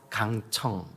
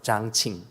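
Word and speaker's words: 江青: 그런데 그 10년 동안 문화혁명을 거칠 때 그 모택동의 아내였던, 우리 한국식 발음으로 강청, 여러분 들어보셨죠? 그죠? 강청. 그 강청 그 여인이 이게 이제 중국 발음으로는 장칭.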